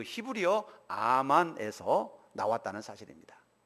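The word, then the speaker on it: אָמַן: 히브리 사람들은 충성이라고 하는 단어를 아만이라고 발음했습니다. 한번 따라합시다. 아만.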